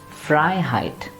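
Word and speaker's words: Freiheit: mean something else like this word and the pronunciation would be fry height like we talked about suffixes in the with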